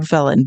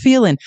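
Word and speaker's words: Phelan: John felin who I like to call John felen but it is pronounced felin the man who has never been in the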